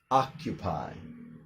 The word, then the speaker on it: occupy: So almost think of it like the first C is silent and the second C is just like a K or a hard K.